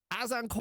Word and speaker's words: Azincourt: It's uh actually pronounced Azincourt.